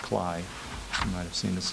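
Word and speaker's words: Klay: Phil, K-L-A-Y, it's pronounced Cly.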